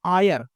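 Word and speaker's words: heir: राजकुमार Naval Kishore was था his only आयर, इसको हायर नहीं पढ़ेंगे, आयर पढ़ेंगे, एच साइलेंट रहेगा।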